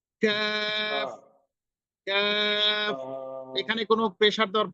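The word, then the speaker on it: ق: পরের অক্ষরটা উচ্চারণ করুন কফ হ্যাঁ কফ কফের উচ্চারণটা একটু মোটা খুব মোটা হবে কফ এবার কফ এর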